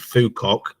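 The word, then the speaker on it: Phú Quốc: less known Vietnam there's a tiny island called phukok and uh this won't get blocked on YouTube because that's correct pronunciation um but it's a wonderful little island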